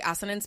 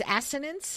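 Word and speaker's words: assonance: It's actually asinance, but we're going to go with iteration. Sorry. It's It's asinence. Asinance.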